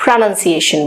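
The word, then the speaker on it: pronunciation: इसी तरीके से यहाँ पे प्रोनाउंस को आप प्रोनाउंस ही बोलेंगे, लेकिन प्रोनाउंसिएशन को आप प्रोनाउंसिएशन बोलेंगे।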